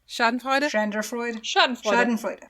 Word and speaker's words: Schadenfreude: How is it pronounced, Yara? Schadenfreude?